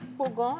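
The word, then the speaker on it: Kpogan: Pogan s'écrit K P O G A et N.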